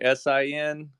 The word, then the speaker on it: Senn: It's pronounced Sin, so almost like S-I-N, but it's spelled S-E-N-N, so it's Sin.